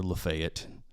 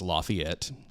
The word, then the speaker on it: Lafayette: We are all aware that it's Lafayette, but we pronounce it Lafayette. And there is a reason for that. There is a historical reason for that. It was making fun of a general.